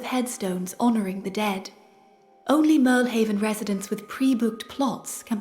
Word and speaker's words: Mirlhaven: I think it's Mirlhaven, with the emphasis on the second syllable, and then back and forth and trying it different ways.